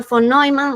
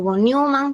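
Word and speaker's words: von Neumann: La arquitectura voniman o vonuman, como le quieran pronunciar, dependiendo del idioma.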